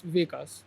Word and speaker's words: Vikash: Yeah, it's like everyone when you are pronounced this my name it's Vikash, but if you Vikas. will see in the documents it's Vik- Vikash. Yeah. There is like Sh and Sa.